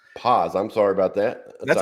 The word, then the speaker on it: Paz: I'm doing good, and I realized we just met, so you wouldn't know, Yeah, but my last name is pronounced Paz. pause.